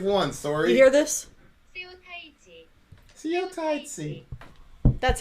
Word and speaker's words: Seo Taiji: them what they've won sorry you hear this see you tight see that's how it's pronounced ladies and gentlemen this is the second